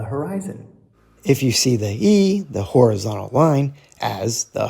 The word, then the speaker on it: 一: Note, here we pronounced E as E, second tone.